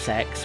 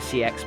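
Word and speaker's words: CeX: I sold I sold a lot of them to um the this shop called that is pronounced sex, but I call it CX because um saying it's sex can sometimes imply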